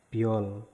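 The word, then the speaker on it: 별: Ya, berikutnya ada nomor 7 itu biep, B, terus yo, vokal yo, bio, ada konsonan akhir riel, L, dibacanya L. Berarti kata ini dibacanya biol.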